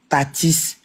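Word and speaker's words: Tathys: Tapez sur TikTok ou sur Facebook Tatis Parfumerie. Ça s'appelle et ça s'écrit T-A-T-H-Y-S Parfumerie.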